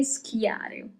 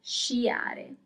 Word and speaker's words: sciare: To ski is sciare. Sciare. So do not say schiare, okay, that doesn't exist. That's not Italian. To ski is sciare.